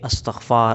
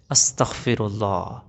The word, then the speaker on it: استغفر اللہ: ہوتی۔ دیکھو، بہت سے لوگ کہتے ہیں استغفار استغفار استغفار، ٹھیک ہے نا، یہ بھی کوئی تسبیح نہیں ہے۔ استغفار استغفار استغفار، بہت سے لوگ اس طرح کہتے ہیں۔ صحیح تسبیح کیسے ہے، صحیح تلفظ کیسے ہے؟ استغفر اللہ، استغفر اللہ، میں اللہ سے معافی